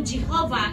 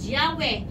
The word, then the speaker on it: Yahweh: because of what happened that is changes to Jehovah amen that is not the correct pronunciation of Our Lord Yahweh is the correct pronunciation why because the ancient